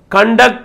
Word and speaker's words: conduct: Conduct అనే word noun గా వాడినప్పుడు స్ట్రెస్ ఎక్కడ రావాలి? ఫస్ట్ సిలబుల్ పైన రావాలి స్ట్రెస్ అనేది.